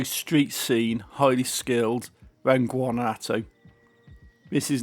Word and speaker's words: Guanajuato: Sur and Guanajuato, I think that's how you pronounce it, Guanajuato Sur.